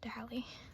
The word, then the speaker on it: Daley: I said Daley, but I think it's pronounced Dally. Sorry.